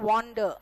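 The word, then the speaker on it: wander: ठीक है, वंडर एंड वॉन्डर ये दोनों सेम है, सॉरी दोनों वर्ब है, दोनों सेम यानी कि वर्ब है, लेकिन डिफरेंस देखो प्रोनाउंसिएशन का। ये वंडर है, ये वॉन्डर है।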